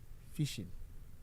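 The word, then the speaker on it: phishing: n g but it is pronounced as a normal fishing catching fish.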